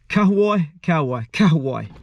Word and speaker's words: Kahawai: Kahawai. That's the right way to say it.